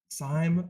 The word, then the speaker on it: Sime: Former intern and aggressively tall person, Josh Sime. How am I pronouncing that Time, correctly? like time. Sime like time.